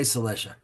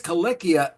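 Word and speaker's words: Cilicia: D it says cicia you may have heard everyone say cicia but in it says kikia in plain Greek it's literally the land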